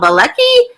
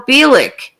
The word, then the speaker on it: Bielik: And she said, Al Bielik. And I couldn't even say his name. I'm like, Al Bilecki? And she's like, no, Al Bielik.